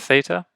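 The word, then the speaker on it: θῆτα: sound ah Max of theta th sound the ah next is an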